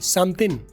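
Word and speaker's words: something: है समथिंग is fishy इसमें आप और गौर करें कि इसको मैंने अलग फिर नहीं होने दिया जैसे पीछे रूल बताया समथिंग is fishy समथिन समथिन इज समथिन इज अब जी साइलेंट कर दिया इसको मिला दिया ये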